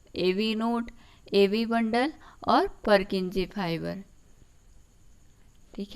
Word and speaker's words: Purkinje: उसके बाद है परकिंजे फाइबर. कई लोग इसको पुरकिंजे भी प्रोनाउंसिएट करते हैं.